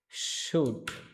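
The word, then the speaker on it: should: এখানে মাঝখানে এল আছে, এল অক্ষর আছে। এলের কোনো উচ্চারণ হবে না।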